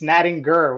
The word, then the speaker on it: Nattinger: saying it wrong it's natting g with a hard G here I'll even give